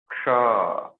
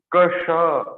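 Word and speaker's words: क्ष: So not Kasha. It's not like this.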